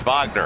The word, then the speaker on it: Wagner: And he goes, it's Wagner. I said, we know. We pronounce it correctly.